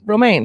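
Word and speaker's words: Romijn: Romaine? Romjin. Romaine. Yeah, Romaine. Like the lettuce. I know, but it's not spelled the same way.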